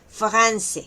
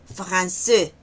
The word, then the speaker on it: français: Aquí podemos decir, por ejemplo, français, no es français, sino français.